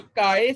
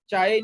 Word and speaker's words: chi: Test होता है, उसमें काय स्क्वायर टेस्ट होता है, काय CHI, चाय नहीं पढ़ना, इसको काय पढ़ना, ठीक है।